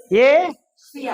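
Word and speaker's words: Asia: ஆனா என்னது இங்கிலீஷ்ல என்னது ஏசியா இது எத்தனை சிலபில் ஏசியா ஏசியா ரெண்டு சிலபல் தான் ஆனா தமிழ்ல நம்ம ஆசியான்னு எழுதுவோம் அப்ப மூணுன்னு ஆயிடும் சோ இது வந்து விதிவிலக்கா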